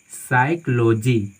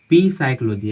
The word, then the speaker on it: psychology: हम इसको पढ़ते हैं साइकोलॉजी, साइकोलॉजी मतलब मनोविज्ञान, नॉट यहाँ पे पी साइकोलॉजी।